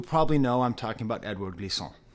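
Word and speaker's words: Édouard Glissant: know I'm talking about Edouard Glissant. Edouard Glissant, okay? Edward Glissant, if you want to pronounce it like that, okay?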